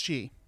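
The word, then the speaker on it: sìth: Wars fans among you in Scotland the name of this race is spelt si th who the Sith Lords mmm-hmm though it's still pronounced she like still interesting better yeah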